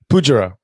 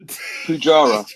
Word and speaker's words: Poojara: Say it again. Poojara. Poojara. Oh, Poojara. So quickly. We're just gonna speed that one up in the edit. Hey, Mike, your background. Oh snap! Yeah. Oh yes. Yeah. I forgot to do the Poojara. Yeah. Yeah, nailed it. Like it's spelled. Poojara.